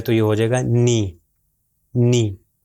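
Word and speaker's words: نِ: یہ ہو جائے گا نی، نی۔ اگر میں کہوں نے تو یہ غلط ہے، نی صحیح تلفظ ہے۔ پھر آخری تین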